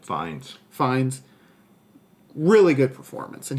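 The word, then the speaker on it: Fiennes: was good also Ralph fiends is that how you pronounce it fines fines really good performance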